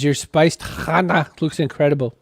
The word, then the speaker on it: chana: Chloe in Scotland says your spiced chana looks incredible. How do you pronounce it? It's chana.